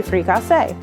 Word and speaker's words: fricassee: A lot of people pronounce it fricassee, but like I said, in Louisiana, we say fricassee. It's French.